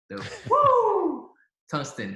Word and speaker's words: Woo Tungsten: Woo! Tungsten.